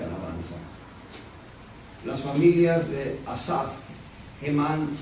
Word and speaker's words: Hemán: Hemán. Y luego está Etán. Etán es E-T-H-A-N. Acento en la A. En Hemán y en Etán el acento va en la última A o en la A.